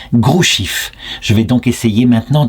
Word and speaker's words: Hrushiv: Alors en me renseignant mieux sur internet, je vois que Ruchif, ça se prononce en fait Grouchif.